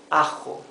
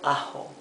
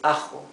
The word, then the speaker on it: ajo: Now with J, this is ajo, not ajo. It's ajo. It's rougher than the English H.